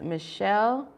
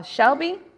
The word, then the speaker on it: Shelby: not be misunderstanding please it is pronounced as Michelle am I correct uh Shelby I'm Shelby uh because I have